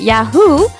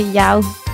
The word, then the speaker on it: Yeowww!: So, I used to pronounce it Yahoo, which was the French way, but I've been told that it's actually Yao, like meow, but Yao.